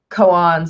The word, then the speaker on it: koan: or a Zen koan I think Cohen is the correct pronunciation of it as I was corrected by one of my students once when I was talking about this so when Zen Cohen is a story or